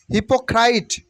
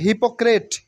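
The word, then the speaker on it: hypocrite: lazy lazy lazy hippo হিপোক্রাইট হিপোক্রাইট নট হিপোক্রেট হিপোক্রাইট মানে ভন্ড হিপোক্রিসি হিপোক্রেসি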